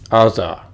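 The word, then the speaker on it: עזה: Alright, now notice in the actual Hebrew text, you have Gerar right here, spelled with Gimel, but Aza, which is Gaza, is spelled with Ayin, Aza, because the fallen letter has been taken away, but we still see the remnants of this letter.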